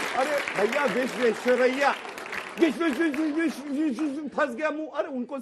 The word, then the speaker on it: विश्वेश्वरैया: या ना विश्वेश्वर, अरे भैया विश्वेश्वरैया, फंस गया मुंह।